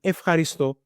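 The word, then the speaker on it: ευχαριστώ: dans la première catégorie, alors il prononce comme af, f. Pourquoi? Parce que, comme on peut voir ici, je vais utiliser une autre couleur, peut-être ça. Ok? On voit qu'on a les chi. Ok? Alors, les chi, où on trouve les chi? C'est dans la première catégorie. Alors, ça veut dire qu'il prononce comme af, f, pas comme av, f.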